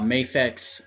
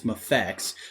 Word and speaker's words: MAFEX: the first time uh mafix has or um effects i'm sorry i keep mispronouncing it it's mafex because it's miracle action figure with effects is wow that stands